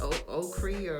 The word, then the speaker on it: ochre: Or whatever, it's not Arch, it's Ochre or something.